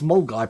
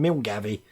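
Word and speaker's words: Milngavie: I'm just glad I can pronounce Mulgai properly rather than Milgavi.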